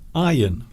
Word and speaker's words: iron: Iron. Like the R doesn't exist. It's a silent R.